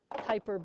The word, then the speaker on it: Kuiper: So they come from the Kuiper belt, and strangely, this is named after a person. It's called the, oops, make that an I. It's pronounced Kuiper belt.